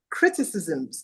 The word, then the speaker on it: criticisms: The pronunciation is criticisms, not criticism.